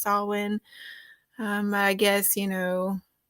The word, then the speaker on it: Samhain: be talking about that a lot of people pronounce it Sam Hayne that's not how you pronounce it it is pronounced salwin um I guess you